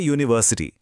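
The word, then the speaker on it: university: देखिए, शब्द है यूनिवर्सिटी।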